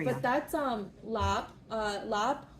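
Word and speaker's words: larb: But that's um lap uh lap. It's spelled lar.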